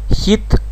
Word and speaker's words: hit: смотрите обратим сразу внимание на произношение данного слова хит А краткий звук хит Потому что если мы скажем длинно то тогда это было уже совершенно другое слово и переводится как Жара